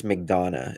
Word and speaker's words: McDonough: Chris McDonough is how they pronounce it. That's how Don does kind of pronounce it.